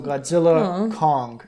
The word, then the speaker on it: Godzilla x Kong: Yeah, so Godzilla Kong: The New Empire cuz the x is silent in like anime and everything.